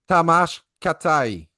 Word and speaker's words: Tamás Kátai: I heard that your name is pronounced Tamás Kátai. Yeah, Is correct? it is correct. However, in Hungarian, we have our surnames first and the Christian name second. So it is officially Kátai Tamás.